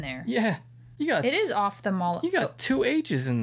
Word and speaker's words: ophthalmologist: a long time but it's off as in turning the switching the lights off okay so we always